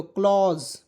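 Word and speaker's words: close: एल ओ एसई तो क्लॉज अधा क लज देखिए एसी का उच्चारण यहां पर स रूप नहीं य ज के रूप में करेंगे ठीक है तो आपको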